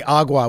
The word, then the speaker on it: agua: Ezekiel last night anyway there's actually Latinos out there that say agua with a hard G believe it or not